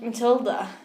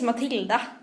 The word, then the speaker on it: Matilda: um I'm Matilda Matilda I hate when people say my name like Matilda and my name is Matilda is Swedish clear I